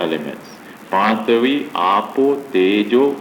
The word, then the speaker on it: tejo: Then Tejo, not Teo, Tejo, Tejo. Tejo is fire element.